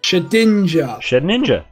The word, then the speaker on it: Shedinja: ninja shedinja shed ninja ninja ninja has two pronunciations then it's got [